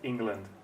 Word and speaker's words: England: Sorry, England. England. Where's the stress? On the E, right? England. Exactly. And the second syllable is? Very short. It's very short, almost not there. It's the schwa.